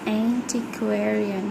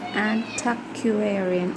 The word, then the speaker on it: antiquarian: For example, antiquarian is what I expected, but it was antiquarian.